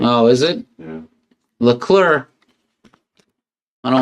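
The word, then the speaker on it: Leclerc: It's just clear. C is silent. Oh, is it? Yeah. Llur.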